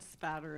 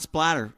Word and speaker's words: spatter: Blood spatter analysis. That's right. See, you said it right. Spatter. It's not splatter, children. It's spatter. Spatter, not blood splatter.